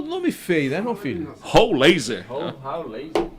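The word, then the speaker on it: Rollheiser: Roulaser. Essa é a pronúncia, né?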